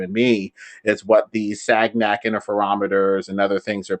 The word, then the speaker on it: Sagnac: fine the son effect it's sagnak but it's s s sounds cool but it's spelled segn we need to make